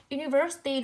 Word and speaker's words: University: University đuôi y dài dịch ba âm nó rơi vào ver âm tiết thứ ba.